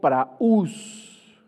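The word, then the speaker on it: πραΰς: La palabra mansos viene del griego praús, con acento en la U y S, que significa apacible, gentil, humilde.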